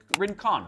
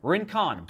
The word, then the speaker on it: Rincon: on the search box and then type in rincon right that's how you pronounce it rincon boom here's some shoes uh here's the ring